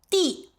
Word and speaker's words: 地: 作为结构助词的发音，我刚才已经讲过啦 As a structural particle, the pronunciation is 'de,' 它后面一定是一个动词 A verb should follow after it. 另外这个发音是 In other cases, with the pronunciation 'dì,' 地球 (dìqiú) - Earth,